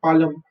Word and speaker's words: palm: Okay, the last set of plants are palm, sunflower. यहाँ पे L is silent. Okay, you don't say palm, you always say palm. L को silent कर दो, palm.